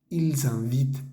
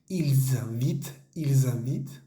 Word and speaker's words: ils invitent: Es importante la liaison. Recuerden, cuando el pronombre termina con S y el siguiente verbo comienza con vocal, por ejemplo en la segunda línea que habíamos dicho, ils invitent, tenemos que hacer esa